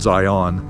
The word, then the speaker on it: Zion: Unless you're like from the Matrix or something, then maybe you'd call it Zion. So, it would rhyme with rhyme with Cllingon or something.